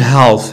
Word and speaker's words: half: اوكي النص ما كنقولوش half half كتكون soft.